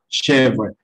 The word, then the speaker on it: chèvre: Entonces, esa E va, digamos, como se suena, como lo pueden escuchar, va a sonar como una E muy abierta, she, como si estuvieran abriendo un poco la boca, forzándola un poquito.